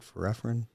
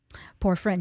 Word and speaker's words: Porphyrin: And affect your, how do you say it? Forephrine? Porphyrin, yes, Porphyrin. you got it.